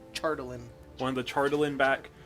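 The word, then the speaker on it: chardalyn: no it's okay it's hard h but it's pronounced chartalin one of the chardolin back and also let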